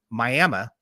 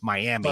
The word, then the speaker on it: Miami: this thing had ended up happening up in Miami Oklahoma like it's Miami Oklahoma but it's pronounced miam and that's halfway between here and